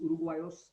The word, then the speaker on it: uruguayos: Okay, G plus U is G, So Uruguayos. this is the country's name, so that pronunciation doesn't change.